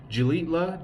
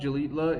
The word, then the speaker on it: Xilitla: Today is just the route from Ciudad Valles to Gilitla. Gilitla is spelled with an X.